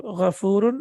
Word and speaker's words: غفور: فعول, and on this pattern we have غفور, and please see that this is with fatha and not with dhamma.